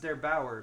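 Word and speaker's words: der8auer: yesterday by, I believe his name is pronounced Der Bauer, but I hope I'm not wrong about that. He's German, D-E-R-8-A-U-E-R.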